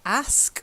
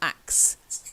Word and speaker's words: ask: reads that but it's ask or ask not axe ask or ask that's better good good good I